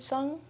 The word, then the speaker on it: Sung: When we pronounce the end of this word, we close off our vocal cords right away so that we don't actually say the g at the end.